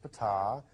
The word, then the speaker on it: Fatah: he got to meet Fatah that's pronounced Fattah and he's the leader